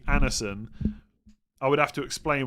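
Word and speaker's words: Andersen: I'm going to I'm going to be told I'm pronouncing something incorre but we do not pronounce the D. So the guy from Fulham is actually pronounced Anison.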